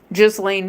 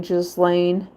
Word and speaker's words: Ghislaine: They said Donald Trump was supposed to be giving Ghislaine, what are they calling her? Ghislaine. They're pronouncing her name a little bit differently to give her more of a less harsh name. Ghislaine.